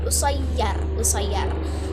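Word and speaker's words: قصير: Nah terus dalam Amiyah Mesir terdapat wazan ini seperti qasir, yang biasanya qasir artinya sedikit, itu menjadi usayyar karena qaf diganti menjadi u jadi alif kan u berarti usayyar bukan qasir dalam Amiyah Mesir.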